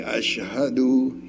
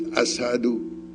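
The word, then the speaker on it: أشهد: word because when she instead of saying ash'hadu he says asado why they give him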